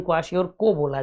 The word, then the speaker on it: क्वाशियोरकोर: ये लास्ट वाले आर को पढ़ा नहीं जाता है, क्वाशियोरकोर है लेकिन क्वाशियोरको बोला जाता है इसको, ठीक है।